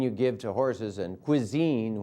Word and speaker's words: cuisine: The classic French haute cuisine, pronounced haute like grain you give to horses, and cuisine, which rhymes with Holstein.